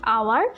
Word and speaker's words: hour: So you know about the mute h, so the pronunciation is like hour. I have skipped the letter h, that's why I have used here an.